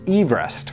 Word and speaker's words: Everest: wrong anyway George Everest surn name was actually pronounced Everest there you go so it should be Mount